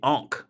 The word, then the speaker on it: Ankh: The Ankh. Yeah, that's how you pronounce it.